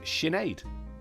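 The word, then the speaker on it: Sinéad: Pronounced Sinead.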